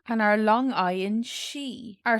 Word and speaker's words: sí: Sí, the i fada has an ee sound, long e, sí, tá, sí is